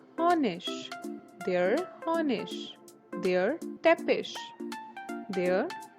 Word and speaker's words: Honig: Most of the times ig is pronounced as ish. For example, der Honig, der Honig, der Teppich, der Teppich.